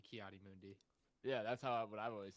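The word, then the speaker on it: Ki-Adi-Mundi: But Kia Monday. Monday is crazy. Yeah, he like did not pronounce that right whatsoever. Let's go back. Let's talk about. I always the thought it was minifigure. Kiadi Mundi, First no? with- It's got to be Kiadi Mundi.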